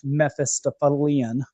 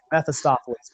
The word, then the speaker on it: Mephistophelian: is very hermetic / Mephistophelian. That's a hard adjective to say, Mephistopheles, but there's an extra syllable in there.